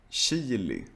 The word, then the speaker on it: chili: cases, when you see CH, you should also pronounce it like sh. For example, chatta, gruppchatt, chili, bachata, chips, Chile.